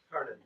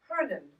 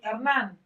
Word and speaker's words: Hernan: Hernan. Yeah. How do I spell that? Since I was born. What, sweetheart? How do I spell it? H-E-R. Herman. Herman. Hernan. Hernan. Hernan. It's Herman with an N.